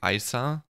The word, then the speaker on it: ISA: stacy and yes i looked up how that's pronounced in korean and they say isa so not isa or anything like that which i would have